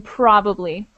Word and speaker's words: probably: just one note probably there's a a definite emphasis on the first syllable in probably just make sure okay